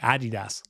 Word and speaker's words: Adidas: He even pronounces it the European way, Adidas. And I know that's probably how you pronounce it.